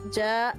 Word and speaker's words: ya: If you say I'm coming is ya voy. Ya voy. Ya voy. With a J? Ya voy. Yes. You pronounce the ya with a J.